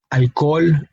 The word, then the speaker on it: alcohol: Same thing in the word hogar, alcohol, and hola. No, we spell it out. We spell the letter H in the word, of course, but we do not pronounce it because it is a silent letter in the language.